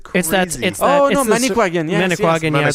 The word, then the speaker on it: Manicouagan: How do you Pronounce the spell lake it? again? Manicouagan. Okay, so MANICOUAGAN.